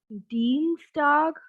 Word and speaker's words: Dienstag: Tuesday is Dienstag. Again, I've told this earlier also. Whenever we are using IE, we have a sound of E. Whenever we are using EI, we have a sound of I.